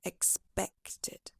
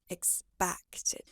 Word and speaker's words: expected: So examples include the word expected. You pronounce it more like expected. Try adjusting it to an E sound, so it sounds like expected rather than expected.